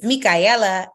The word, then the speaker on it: Mikaela: met me yet my name is Mikaela Ella Ella a just like the Rihanna song shout out to the Super Bowl if we have any football fans but Rihanna Ella Ella that's how you say my name I'm a design principal